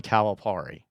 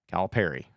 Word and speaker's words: Calipari: basketball team and it's John calari Cal Perry I kept saying it wrong Cal Perry sorry it's John Cal Perry you know the guy